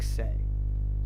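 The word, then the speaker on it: Cay: This next artist, it's pronounced C-A-Y is pronounced like say.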